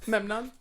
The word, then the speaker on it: Memnon: Is that how you say it? Yes, Memnon. My mouth doesn't want to do that. I know. It's weird to put an M and an N together.